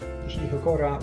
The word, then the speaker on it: hokora: Hokora rhymes with cholera.